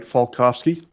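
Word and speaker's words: Falkofske: for the court reporter my name is falkovski last name is spelled f-a-l-k-o-f-s-k-e Mr falkovsky who do you work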